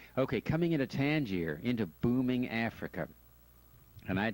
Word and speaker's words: Tangier: You don't pronounce the S, Tangier.